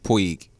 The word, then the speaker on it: Puig: our baseball guy tell me why you believe puig did i say his name right yes okay